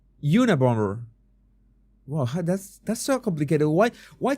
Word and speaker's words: Unabomber: The second B is silent. Unibomber, like bomber, dude. The last B is in a bomber. Unabomber.